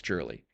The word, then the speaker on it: Jurley: If you guys want to follow me at NickJurley1 on X, and that's how you actually pronounce my last name is Jurley. It's not Gurley, everyone. It's Jurley.